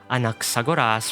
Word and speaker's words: Anaxagoras: His codename is pronounced as Skemma, which means subject for speculation. One more time. Anaxagoras for his given name and Skemma for his codename.